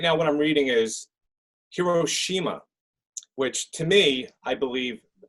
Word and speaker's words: Hiroshima: It's Hiroshima because the Japanese do not want to place any sort of value on any part of the word.